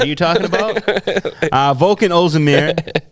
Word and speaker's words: Ozdemir: Volkan Ozdemir. How do you say his name? Ozdemir.